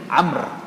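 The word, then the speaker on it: عمرو: लेकिन हकीकत में इसका तलफुज़ है अरबी में अम्र। तो अरबी में जो नाम है अम्र ये एक बहुत कॉमन नाम है अरबी में। इस अम्र के हिज्जे अगर अरबी में लिखे जाए तो वो ऐ मीम रे वा बनते हैं जो आपको यहां पे नज़र आ रहे हैं।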